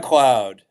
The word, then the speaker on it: McLeod: to do things, and that is is it McLeod? How do you pronounce it? It's like McLeod.